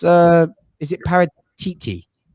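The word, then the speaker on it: Paratici: pronounce uh is it para titi everyone keeps saying paratichi but i heard from an italian journalist who wrote me a new one it's paratc that's how it's pronounced tc yeah i'm the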